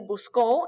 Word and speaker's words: buscó: El buscó, accent on the O, because if you don't have this accent mark here, busco means I look for, present tense. But buscó, accent on the O, he looked for, past tense.